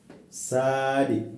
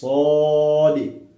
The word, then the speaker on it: صاد: Should not say sad. No, wrong. It's صاد.